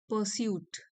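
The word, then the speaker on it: pursuit: ये प्रोनाउंसिएशन देख लीजिए, इन द परस्यूट। परस्यूट, are silent है।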